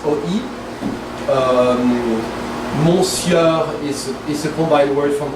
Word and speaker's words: monsieur: It's not monsieur, it's monsieur. So it's an E actually.